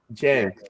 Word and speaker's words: Jang: Jang. All right. Okay. It rhymes with gang. Gang, with an I in it.